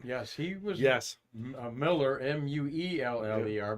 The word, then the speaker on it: Mueller: Miller, Mueller, but pronounced Miller.